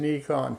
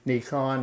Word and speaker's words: Nikon: That's closer to the Japanese pronunciation of the word. You'll hear me slip every once in a while and go back into the American version of it, which is Nikon, but Nikon is closer to being correct.